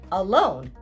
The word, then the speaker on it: alone: Now here we have two syllables and the stress is given to the second syllable, lone.